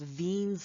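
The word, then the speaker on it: Wien: the first important property is called veen's law it's spelled with a w it was german have you ever asked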